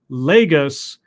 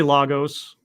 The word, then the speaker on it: Lagos: I regularly bash Marvel, including in Slate, for its inability to have its characters properly pronounce Lagos, the name of Nigeria's biggest city and arguably the most populous in Africa. Say it with me again, Lagos. It's really not hard.